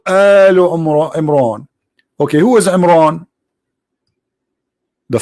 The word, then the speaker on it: Imran: the Quran Maryam she became the daughter of Amran which is the father of mooses and Muhammad even pronounce the name wrong because it's at home ROM Imran it is in law which means the last